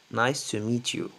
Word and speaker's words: nice to meet you: Nice to meet you. Les Américains prononcent pas le T à la fin. Ça se prononce comme E, E.